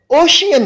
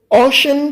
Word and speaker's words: ocean: कुछ बच्चे ओशन को ओशियन प्रोनाउंस करते हैं। ओशियन प्रोनाउंस करना गलत है, ओशन प्रोनाउंस करना ठीक है।